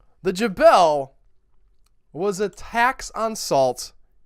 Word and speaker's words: Gabelle: And I did look up several pronunciations that had the hard G. My gut tells me that since it's French, it should be Gabelle. But I'm not French, so I went with the pronunciation guides that I looked up.